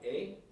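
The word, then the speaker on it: Mireya: She's been sworn, but she needs to spell her name, because her name sounds like Maria, but it's spelled differently. Ms. can you spell your first and last name? M-I-R-E-Y-A. Mariya.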